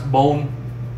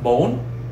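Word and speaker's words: bốn: this it would pronounce bone like you know in english bone but because we have this it's pronounced bone it's much higher sound okay so bone for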